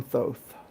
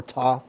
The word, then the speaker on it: Thoth: know what deck millennium thoth or thoth or toth if you don't pronounce the h y'all get it what's